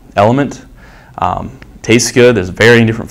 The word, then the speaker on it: LMNT: of these Brands none element lmnt is how it's spelled liquid IV so again